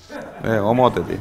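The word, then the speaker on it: homothety: If you perturb, how do you say homotesy? Homotety, okay.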